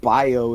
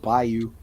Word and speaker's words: Bayou: They be saying Bio instead of Bayou. I say bio.